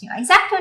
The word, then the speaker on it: X-Acto: cutting most cake decorators would recommend using an x-acto knife exacto knife an x-acto knife is used in arts